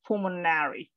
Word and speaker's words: pulmonary: the pulmonary uh so try to pronounce the the uh the end it's pulmonary pulmonary perfect excellent and pulmonologist